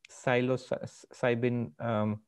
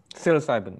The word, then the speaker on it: psilocybin: Even now, somebody like, from a very secular perspective, Christoph Koch was talking about, I can never pronounce that drug, psilocytin or something. Psilocybin, yeah.